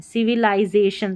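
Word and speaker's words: civilization: आपने नहीं पढ़ना है, इसको लाई पढ़ना है, याद रख लें, CV लाई, जे और शन, ठीक है, सिविलाइजेशन नहीं पढ़ना है, सिविलाइजेशन।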